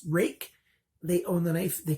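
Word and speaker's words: Ruike: 3 next is a rake knife rui ke pronounced rake they own the knife they can decide how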